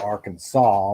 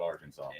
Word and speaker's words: Arkansas: yeah yeah thanks yeah that is true how how did they come up with arkansas when it's spelled arkansas french there's no sas that equals that's all i gotta say exactly and that's why they call it arkansas outlaw guitar avatar company